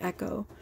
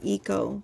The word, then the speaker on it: Echo: ecosystem, but you know, I pronounce it Echo. But yes, it's, I got it from ecosystem. So I guess you could call him Eco, but it's, you know, it's Echo. I call him Echo.